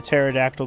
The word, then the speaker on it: pterodactyl: Why can't you hear the pterodactyl go to the bathroom? I don't know. Why can't you? Because the P is silent.